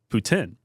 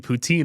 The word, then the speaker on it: poutine: And the girl was like, "Oh, you mean poutine?" And I'm like, "No, that's the American way of saying it." But then I guess that's how they say it out there. But coming from like we're what an hour outside of Quebec where the French I think it's like Putin is like how you say it in French.